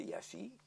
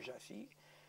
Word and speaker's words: Iași: Je peux dire qu'en 1941, dans la ville que j'ai habitée qui s'appelle Iași, et en français Iași, ça peut se prononcer de diverses manières, ou Jassy.